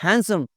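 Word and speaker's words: handsome: इट्स नॉट हैंडसम, इट्स हैंडसम, हैंडसम, डी is silent here भाई।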